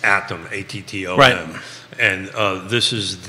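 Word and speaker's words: ATTOM: just wanted to make sure I got the pronunciation right it's atom at and uh this is the national firm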